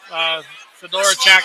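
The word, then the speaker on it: Fedorchak: Fedora Chak. I finally learned how to pronounce her name.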